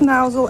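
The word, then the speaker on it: Mousehole: here mouse will pronounce mousel as in chairman mao which is very helpful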